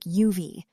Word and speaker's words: have: In fast, natural speech, have often sounds like UV.